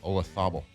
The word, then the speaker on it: Olazabal: Yeah, Olazabal. Kind of like Ibiza.